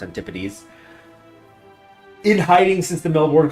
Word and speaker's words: Antipodes: I think it's pronounced Antipodes.